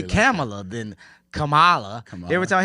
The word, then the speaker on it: Kamala: They call her Kamala, like the wrestler. Hey, I see everybody struggling. I always remember Kamala. Kamala.